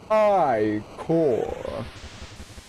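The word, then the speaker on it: ichor: I can fill it with magical iore that's pronounced iore choose your eyore wisely I love how it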